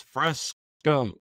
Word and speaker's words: Fresco: I mean, A, it's Fresco, not Fresca. Fresca is a drink. It's spelled F-R-E-S-C-A, Fresca. Not bad. It's F-R-E-S-C-O.